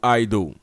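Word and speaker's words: εἴδω: Le mot est traduit par oida ou aido. Vous voyez comment je l'ai prononcé? Ben, les deux marchent.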